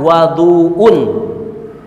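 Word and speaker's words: وَضوء: Babul wudu bab wudu wudu itu ada dua pengucapan ada wudu UN wuduun wwya didamahin wuduun ada difathahkan waduun ada wuduun ada waduun kalau wuduun itu wudunya perbuatan wudunya kalau waduun wa fathah itu ada air yang dipakai untuk wudu gu ya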